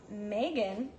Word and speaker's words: Meghan: her mom's decided to go for the silent H it tricks a lot of people and you raise Meghan